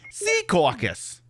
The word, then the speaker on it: Secaucus: No, we moved to Secaucus because it's a funnier name. Or as I'm supposed to be pronouncing it, Secaucus.